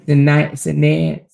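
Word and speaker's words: Sinéad: Sinead.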